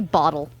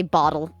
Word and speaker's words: bottle: We say it like that. We don't have T's. We say bottle. There is no T. It's a D. We say bottle.